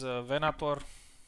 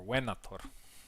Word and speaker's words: Venator: Venator was Venator, if we're pronouncing it right, or Venator, if we want to go into classical Latin.